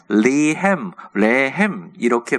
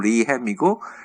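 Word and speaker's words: לחם: 그 다음에 레햄 이렇게 발음하는데 영어식 발음 리햄이고 그냥 우리 그 전통 발음 레햄이 맞습니다.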